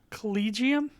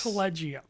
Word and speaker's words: Collegium: I won't screw up can you can you pronounce it properly collegium yes not collegium I've even heard hard my collegium I heard yeah but I'm sticking with collegium but come on give